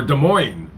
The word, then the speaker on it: Des Moines: Uh Lord Darnell from Des Moines, Iowa. What's going on? Or Des Moines? I'm sorry. I know people are like, "You don't pronounce the S."